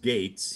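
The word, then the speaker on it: Gaetz: by the way so matt gates his name is pronounced gates yeah who thinks two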